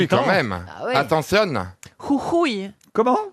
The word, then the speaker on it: Jujuy: Jujuy. Comment? Jujuy. Je suis sûre que vous n'arriverez jamais à prononcer ça.